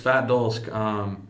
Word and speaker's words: Fat Dolsk: Is that how you say it, Fat Dolsk? Fat Dolsk.